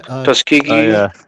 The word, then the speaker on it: Tuskegee: Uh I'm going to pronounce this wrong, but the Taziki, not Taziki, the Tus Tuski syphilis tri Tuskegee.